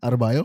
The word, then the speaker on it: Adebayo: Adebayo. Adebayo? Okay, I got it. Adebayo.